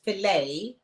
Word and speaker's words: filet: about the fact that the word filet you don't pronounce the T so we're talking about